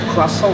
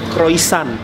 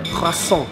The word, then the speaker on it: croissant: Jadi kalau kalian biasanya makan roti putih, terus roti croissant, bacanya croissant ya, bukan croissant, croissant, R-nya harus cadel, croissant.